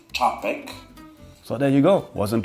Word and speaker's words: Czapek: I'm pretty sure that in Polish we pronounce it Czapek.